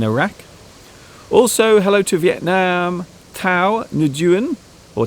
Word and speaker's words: Thao Nguyen: Tao Nguyen or Tao Nguyen. Apparently that's how you pronounce it in English.